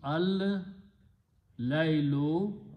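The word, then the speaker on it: الليل: And you put al before that, so it becomes al laylu, al changes to one damma, so it becomes allaylu and the word becomes the.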